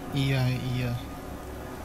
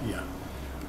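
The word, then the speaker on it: Oia: Ia. Ia. Ia. Cemetery. Spelled O-I-A, pronounced Ia.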